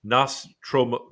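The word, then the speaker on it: Nostromo: so the crew of the nostramo I can't pronounce the name it's NOS tromo tromo awakened from hypersleep and is informed by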